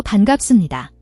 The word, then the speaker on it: 반갑습니다: The B/P in shift sounds. It's a P sound at the end of and a B sound at the beginning of. The ending is pronounced closer to supinaida.